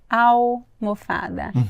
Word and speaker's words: almofada: Mas a pronúncia, gente, não tem som de L. Au. Alface. Almofada.